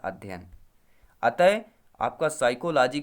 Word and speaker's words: साइकोलॉजी: अंग्रेजी का समानार्थक शब्द फिजिकोलॉजी, या हम जिसे कहते हैं साइकोलॉजी कहते हैं। पी यहाँ पे साइलेंट होता है, आपने काफ़ी सारे जगह देखा होगा फिजिकोलॉजी लिखे होते, लेकिन ये साइकोलॉजी है।